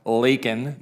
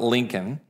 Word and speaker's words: Laken: ended up killing lak it's pronounced Laken not Lincoln lak Riley in Georgia